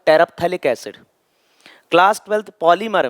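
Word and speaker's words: terephthalic: टेरप्थैलिक है ये, P silent, टेरप्थैलिक acid.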